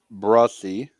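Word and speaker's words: Bresee: first round yeah and so it is Brian brussey um how it's pronounced uh the Saints pick the concern you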